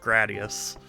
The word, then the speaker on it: Gradius: was saying there was an official, like, it's pronounced Gradius.